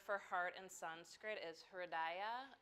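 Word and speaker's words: हृदय: The word for heart in Sanskrit is hridaya. It's 3 syllables, and each syllable has a meaning.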